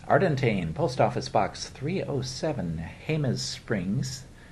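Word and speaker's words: Jemez Springs: Post Office Box 307, Hus Springs. Now that doesn't sound like it, but it's spelled with a J. It's looks like Gez Springs, New Mexico 87025.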